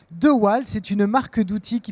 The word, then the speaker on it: DeWalt: parler de The White ça s'appelle devalt comment vous le prononcez the wall c'est une marque d'outils